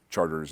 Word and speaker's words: Chartres: riot you know yep Chartres is charters and Calliope is colliding